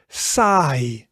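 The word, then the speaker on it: saai: in a word like sigh. Sigh and sigh means boring. So uh the i sound is a combination between the a sound and the e sound. So that becomes i.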